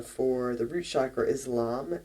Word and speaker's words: LAM: The Bija mantra, the single syllable mantra for the root chakra is LAM, L-A-M.